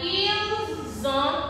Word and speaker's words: ils ont: Nous avons, we have, vous avez, you have, and ils ont, elles ont. The T is silent, okay?